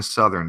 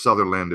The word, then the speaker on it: Southern: of a dying Lauren southern yes thank you I'll Donna um because I actually thought it was Sutherland at first I thought I pronounced it proper the first time anyway listen here's a